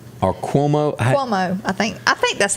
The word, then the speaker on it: Cuomo: Did I pronounce that right? Or Cuomo? Cuomo.